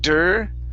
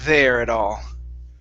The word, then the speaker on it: there: So instead of saying der, okay, just wasn't there at all.